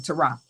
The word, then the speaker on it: Terah: His father, Terah. That's his name, Terah. That's how you pronounce it.